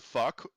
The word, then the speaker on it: phoque: So the word fuck, PHOQUE, that means seal in French, but it's pronounced fuck.